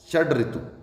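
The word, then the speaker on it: षड्ऋतु: षट ऋतु जी नहीं, गलत है ये, षड डैड डै, षड ऋतु।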